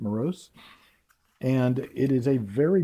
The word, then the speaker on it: Meross: You're basically going to have, like in this one, this is actually made by a company called Meross, I believe is how you say it, Meross.